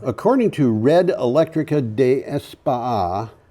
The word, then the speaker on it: España: You've got to pronounce España.